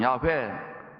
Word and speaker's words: 야훼: 죄에서 구원하시는 하나님이라는 뜻입니다 다른 히브리식 발음은 야훼 또는 예수와라고 합니다 이슈아를 헬라식으로 발음하면 영어로는